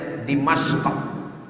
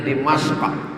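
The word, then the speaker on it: دمشق: Dal mim syin qf cara membacanya dimasq orang barat susah menyebut di masq payah dia menyebut k itu karena banyak lemak babi di lehernya n dibilangnya dimashq Jadi kata dia damaskus kata dia alqahirah susah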